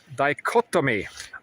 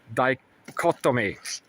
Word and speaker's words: dichotomy: correct me it's called it's called a false dichotomy. I said it right the first time yesterday but dicottomy and you can say